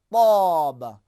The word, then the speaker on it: ط: تے اور تا کا، بس بالکل سین اور صاد کی طرح ہے۔ اگر ہم نے سین کو موٹا کیا صاد بن گیا، ہم نے جو اردو میں ہمیں تے آتا ہے اس تے کو ہم نے اگر موٹا کیا تو حرف توئن بن جائے گا، طاب۔ قرآن میں، نماز میں،